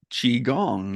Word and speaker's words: Qigong: totally agree Qi g n g but it's pronounced chiong yeah that is one of the the most